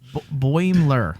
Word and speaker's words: Boimler: Boimler. Boimler? Boimler. Boimler. No, Boimler. There's not 3 syllables. 2.